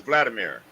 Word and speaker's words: Wolodymyr: It looked like it was spelled Wolodymyr, but it was Vladimir.